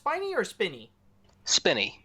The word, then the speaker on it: Spinney: just wanna start off by asking is it pronounced piney or spinny spinny it's very spinning okay thank you so yes